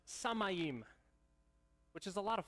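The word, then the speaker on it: שמיים: hebrew is pronounced you're ready for this it's pronounced samayim which is a lot of fun to say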